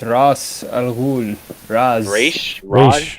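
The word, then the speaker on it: Ra's: He's just no one can pronounce it. But it's Raish.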